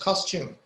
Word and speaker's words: costume: Custom is clothes. Correct. But the pronunciation is costume.